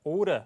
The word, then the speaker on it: order: 자, order 이렇게 발음되고요. 역시 영국식으로.